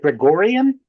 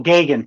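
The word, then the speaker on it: Geoghegan: Is it Gregorian? Is that how you say his last name? It's like Reagan but Gagan. Oh, Gagan.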